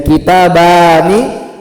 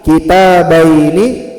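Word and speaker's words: كِتَابَيْنِ: Ah baru jadi jangan kita langsung bilang jadi kitabani kitabaini itu apa artinya?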